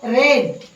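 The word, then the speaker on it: read: दुसरे रूप येणार आहे आय रेड आर इ ए डी रेड आर इ ए डी रीड रीड रेड रेड रीड रीडिंग ही क्रियापदाची रूपे आहेत spelling same आहे पण आवाज वेगळा आहे रीड रेड रेड आय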